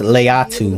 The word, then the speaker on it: Laiatu: It's pronounced Laiatu.